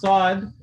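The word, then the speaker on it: ص: have some right now i mentioned to pronounce sod the tip of the tongue is touching the bottom teeth some books are going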